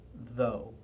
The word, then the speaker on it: though: like in a word though t h u g h the th is the consonant the oouu is the vowel and the g h is silent though a diong is